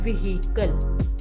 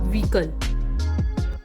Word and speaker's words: vehicle: often pronounced wrongly as vehicle it's not vehicle it's vehicle h is silent weaken x word is